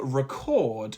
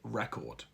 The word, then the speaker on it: record: I will record a new song today. I hope it becomes a hit record. By stressing the first syllable in the noun and the second in the verb, you are now practicing native-like pronunciation patterns.